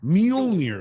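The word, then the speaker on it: Mjölnir: Now now I can kick ass and Mjolnir is how you say it.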